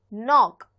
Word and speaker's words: knock: I say knock, not knock, right? Which means the K here is silent.